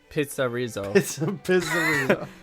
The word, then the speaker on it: PizzeRizzo: That's how you pronounce it? Yes. PizzeRizzo.